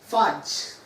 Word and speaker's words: phage: Please pronounce it as phage. Phage. Phage mat bolna. Phage is incorrect.